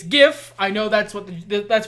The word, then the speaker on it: GIF: me dead in the eye and go it's pronounced jif and i would say i'll keep that in mind jod and then walk off no it's not it's gif i know that's what that's what this is